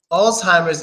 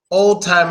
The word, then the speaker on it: Alzheimer's: there you go Alzheimer's Alzheimer's is the proper way Oldtimer is the wrong way so old timer's is the wrong way Alzheimer's is a proper way now the reason why